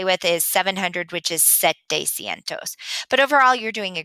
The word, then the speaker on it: setecientos: Another one that is a little tricky, but we're doing okay with is 700, which is setecientos.